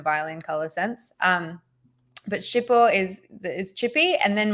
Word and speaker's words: Chipot: the name of it um he so one shippo is spelled c-h-i-p-o-t so it's a French name um